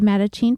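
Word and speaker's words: Mattachine: this week Brad dunie the host of the matachin podcast a show that recounts the stories about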